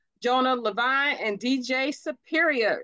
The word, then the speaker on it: LaVine: dark Man X Jonah Levine and DJ Superior so is it Levine or LaVine I don't want to pronounce that wrong it's LaVine but you can also